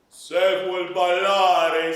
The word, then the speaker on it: Se vuol ballare: Okay, and so I want to make sure that I don't confuse the issue here, that it's not an accent on the second measure, but it's a lengthening of vowel, okay?